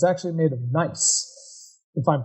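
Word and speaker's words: gneiss: in the Southeast are it's actually made of nice if I'm pronouncing that correctly yeah yeah that's yeah nice as a metamorphic rock and one of the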